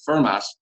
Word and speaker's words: Fermat: he told me that Fermat would have pronounced the final T in his name, given the era and part of France he grew up in.